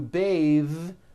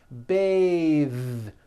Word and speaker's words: bathe: it into a verb to bathe the vowel changes to an a sound and the th is voiced bathe like in bathing suit